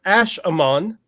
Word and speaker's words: Ash Shaman: And Ash Shaman is pronounced Ash Amon, kind of like an Egyptian name.